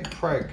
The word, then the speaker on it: Craig: Why did it say Craig? It's Craig. Craig. His name is Craig. Daniel Craig. Daniel Craig. Don't pronounce it weird.